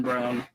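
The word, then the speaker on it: Braun: Jamal Murray Christian Brown I know it looks like Brun but I I believe he pronounces it brown especially knowing somebody with that last name I know I I I was very I always pronounced it brown but I remember watching the broadcast and it's brown I'm like really like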